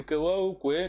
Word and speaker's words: Kewaukwe: Essa é um pouco difícil, mas é Kewaukwe, quer dizer, aqui no fim é como, é já a pronúncia conversa, mas escreve-se assim, o O aqui, quando falamos, ignoramos.